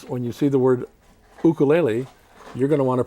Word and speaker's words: ukulele: you kaleli no it's think of that first u as a two as two zero a two o's so here's ernie with